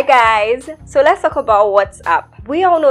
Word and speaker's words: WhatsApp: So, the correct pronunciation is WhatsApp.